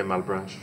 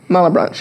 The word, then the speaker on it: Malebranche: You say Malebranche. Malebranche, okay. David Malebranche, I say that because he's a first-generation Haitian-American, and I asked somebody earlier, and they said Malebranche.